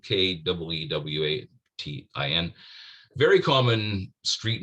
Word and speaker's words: Keewatin: And since it's normally pronounced Keewatin, despite the way it's spelled, it's properly pronounced Keewatin, I thought, I've caught Lemire.